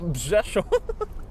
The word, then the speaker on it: Rzeszów: to add the nearest airport to Przemysl is Rzeszów, and it's spelled with RZESHOW. Rzeszów.